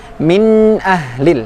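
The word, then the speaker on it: من أهل: Hukum tajwidnya idhar. Ya, idhar. Jelas. Tetapi tidak berhenti karena huruf nun sukun itu sifatnya pertengahan juga. Nah, tidak diucapkan demikian. Min ahlil. Nah, kurang tepat teman-teman dan sahabat Al-Quran semuanya. Lalu bagaimana mengucapkan atau membunyikan bacaan min ahli? Min ahlil. Min ahlil. Nah, N-nya masih ada kedengaran tetapi tidak dengung.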